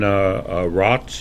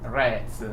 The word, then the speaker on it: Retz: with his pronunciation, Jan Rotz, is that how you pronounce his name? The pronunciation should be Retz, with the Jan Retz. A like apple, Retz.